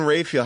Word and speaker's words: Raphael: How do I pronounce this? Raphael. June Diane Raphael.